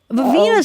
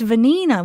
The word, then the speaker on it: Vanina: Vivina's here too. Vanina. Wait, I was saying it wrong. It's Vanina. Was I saying Vivina?